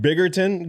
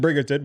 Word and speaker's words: Bridgerton: guy who left Biggerton go over there to Edmonton? Bridgerton? Yeah, there we go. Bridgerton.